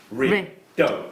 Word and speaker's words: Peridot: The gemstone I have in mind has 3 syllables. Peridot. Yeah, absolutely.